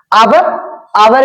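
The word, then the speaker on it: hour: आवर भी एच से है, इसको हम लोग हावर नहीं पढ़ते बल्कि आवर पढ़ते हैं, अर्थात ये भी लिखा कॉन्सोनेंट है, लेकिन जब आप इसको प्रोनाउंसिएट करते हैं तो इसमें जो आवाज निकलती है वो आवाज निकलती है वॉवेल की, अर्थात इससे पहले भी आप क्या लगाएंगे, एन लगाएंगे।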